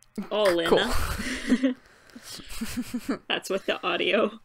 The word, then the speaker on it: Alina: But I did look up how to pronounce Alina. And it's more or less how we're saying it, but with a Russian accent. So, like, Alina.